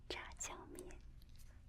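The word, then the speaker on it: 炸酱面: Zha jiang mian.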